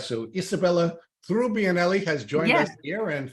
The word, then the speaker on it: Trubbianelli: turning in her grave if I if I mispronounced her name it's all right so Isabella through bianelli has joined us here and thank you for